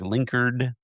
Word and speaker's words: Linkerd: Am I pronouncing that right? Cuz I've heard other people say like Linkerd and like Linkerd. Yeah, rhymes with Cardi B.